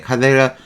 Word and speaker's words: cadere: 라틴어로 원래 카데에 카데 카데 투포의 뜻이에요 라틴어는 항상 K 발음하니 카데 이렇게 되는 거죠 투 4인데 이게 불어로